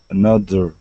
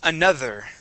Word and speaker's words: another: you okay old cool the word is another another another try that another another another there you go getting that getting make sure making sure to get your tongue between your teeth yeah that is another